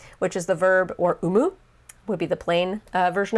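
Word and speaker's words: 生む: It's not always pronounced I. It's not imu or imimas. It's umu or umimas to give birth.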